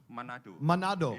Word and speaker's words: Manado: Tolong perbaiki pelafalan saya. He kalau is salah. from an island called Manado. Manado. Ya, Manado.